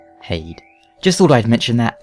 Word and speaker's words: Heide: wondering about pronunciation reference I'm going by sorden who calls it hay just thought I'd mention